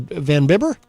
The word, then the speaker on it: Van Bibber: How do you say his last name? Is it Van Bibber? Yep. Rolf Van Bibber.